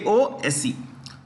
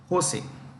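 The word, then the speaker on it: José: Jose. Jose.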